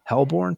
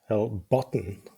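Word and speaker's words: Hellbotn: Uh, Hellborn Metalf. Hellbotton. There's a T in there.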